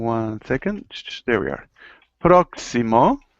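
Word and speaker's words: próximo: second there we are proximo proximo sounds it sounds like a KS it's like saying proo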